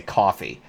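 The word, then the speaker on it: Ko-fi: starting a Kofi um I pronounce it as Kofi because I know that it wants me to say coffee but um yeah there's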